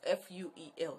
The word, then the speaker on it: fuel: get the scarcity of F-U-E-L. So I was saying, I want to buy fuel. I want to buy fuel. I want to buy fuel. It is fuel. Fuel, like a pronouncing new.